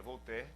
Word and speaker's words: Voltaire: Por exemplo, Voltaire, um filósofo muito conhecido, na verdade se escreve Voltaire, né, em português, mas se pronuncia Voltaire.